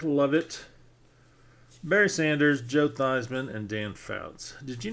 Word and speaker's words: Theismann: His name is actually Joe Theismann. But in college, his last year in college, he was trying to win the Heisman. So he starts calling himself Jeff Theismann to rhyme with the Heisman.